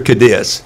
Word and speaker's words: Cadiz: Well, they pronounce it Cadiz or Cadiz. Cadiz.